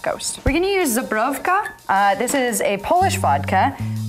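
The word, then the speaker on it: Żubrówka: Can you pronounce the vodka again? Zabrowka.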